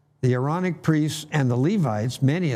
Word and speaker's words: Aaronic: that many of the aaronic priests and we were just discussing pronunciation so would that perhaps be ironic meaning a glottal stop between the two a's the aaronic priests and the levites